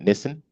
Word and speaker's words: Nissan: Nissan or uh uh we call it Nissan they call it Nissen anyway how they um